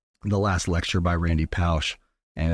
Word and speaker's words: Pausch: Randy, and how do you pronounce that? Pausch.